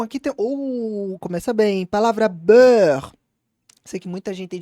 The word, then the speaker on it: beurre: Palavra beurre. Sei que muita gente tem dificuldade para pronunciar isso, tá? Beurre, beurre. Então vale a pena treinar som de heure, com esse R do final, d'accord?